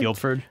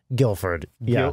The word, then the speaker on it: Guildford: you pronounce that word Guilford Guilford the D is silent the D is silent